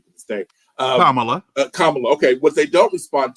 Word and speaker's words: Kamala: I pronounce her name to this day. Kamala.